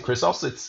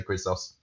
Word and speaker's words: Chrysos: We generally pronounce it Chrysos. It's a Greek word, and I'm sure any Greeks listening would complain about our pronunciation. Yeah. But yeah, we normally say Chrysos.